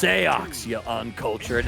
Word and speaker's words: Seox: hear it too well though it's pronounced SEO you un culture and